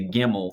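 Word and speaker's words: gimel: always to get the gimmel the one that kind of looks you know it's pronounced like a g because that you think gimmel gimme and so if you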